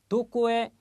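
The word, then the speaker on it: どこへ: 조사할 때는 해가 아니라 에입니다. 다시 한번 강조했습니다. 자, 다시요. 도코에 이키마시타까 그랬습니다.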